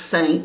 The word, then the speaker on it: Seint: saint now saint and it's pronounced saint like s-a-i-n-t but it's it's spelled